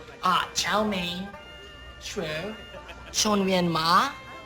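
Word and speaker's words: 炒面: We already told you that chow mein is chao mian, all right? Third tone, then fourth tone, and slightly different pronunciation.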